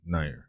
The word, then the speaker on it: Neuer: That's how he pronounced it. I said Neuer, so Neuer.